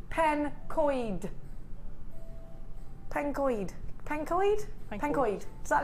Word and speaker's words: Pencoed: Jen Pankcoed is pronounced pencoid. Pencoid. Pencoid. Pencoid. Does that look right to you? Pencoid. Penco or Penco. Well, I'm going to call it Pencoed.